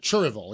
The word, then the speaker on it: Cherryville: of washington terrible terrible he's from cherryville that's right that's how you say it down here he taught me that that's right yeah cherryville yeah cheerville yeah um but he was